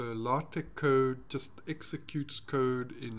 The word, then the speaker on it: LaTeX: can see what is called lattek no lotic it's spelled like latex so lartec code just executes code